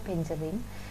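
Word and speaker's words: Beijerinck: Yang pertama adalah Adolf Meyer, ini ya, Adolf Meyer, kemudian ada Dimitri Ivanovsky, kemudian Benjering, ini membacanya Benjering, dan B.M.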